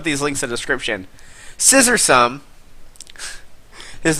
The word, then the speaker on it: Scissorsome: Scissorsome. His name sounds a little dirty, but he's referring to the Pokemon Scizor, and then awesome.